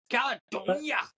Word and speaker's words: Caledonia: Caledonia.